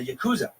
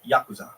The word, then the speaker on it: Yakuza: made it back barely the Yakuza or more properly pronounced the Yakuza I hope you learned